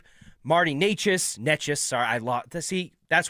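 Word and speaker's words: Nečas: It's Necas, Necas.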